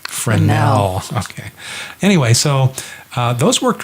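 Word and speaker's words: Fresnel: using the the fernell lens some people say Fresno because it spelled FRES anneal but it's pronounced friend now okay anyway so those worked really well and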